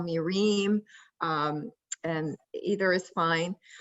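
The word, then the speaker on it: Rim: him quite a bit um yeah so uh rheem take it take it away all right um so my name is reem zara it's written r.i.m but it's pronounced dream uh so you can call me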